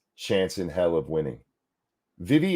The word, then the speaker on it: Vivek: Vivi, is that how you pronounce it? The K silent? I've heard it several different ways. And yeah, I'm going to have to Vake, like cake.